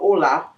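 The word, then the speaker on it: Oula: They opened up a restaurant in Carterat, New Jersey called Ola. It's spelled O U L A.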